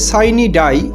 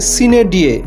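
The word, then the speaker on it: sine die: এই এক্সপ্রেশনটি দুই রকম উচ্চারণ হয়ে থাকে। একটি হচ্ছে সাইনি ডাই, কিন্তু বর্তমানে এই উচ্চারণটা হয়ে থাকে সিনে ডিয়ে।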